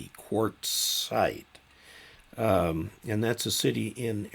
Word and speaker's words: Quartzsite: By the way, Quartzite is spelled QUARTZSITE, Quartzite.